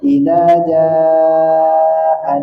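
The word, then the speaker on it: إِذَا جَاءَ: Contoh, idza jaa boleh dibaca 2 harkat, boleh dia dibaca 4 harkat, boleh 5, boleh 6. Makanya paling aman kalau kita bacanya agak panjang aja udah. Ya, dibaca panjang aja. Khawatir 2 harkatnya nggak sampai. Paling aman dibaca panjang.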